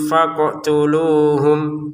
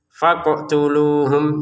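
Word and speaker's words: فَاقْتُلُوهُمْ: Faqtuluhum qof-nya jangan lupa dipantulkan ya. Qf-nya jangan lupa dipantulkan sebagaimana yang ini. Waqtuluhum. Faqtuluhum seperti itu. Jangan sekedar faqtuluhum gitu ya.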